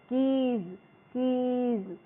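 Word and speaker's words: keys: कीज, एस तो नहीं आ रहे ना इसमें भी, देखिए स्पेलिंग में एस है लेकिन बोलने में क्या जी की साउंड आ रही है।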